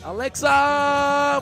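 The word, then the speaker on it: Aleksa: 4th leading scorer, his teammate Alexa Vujadinovic. Yeah, that's how you got to pronounce Alexa. That's how you got to say it.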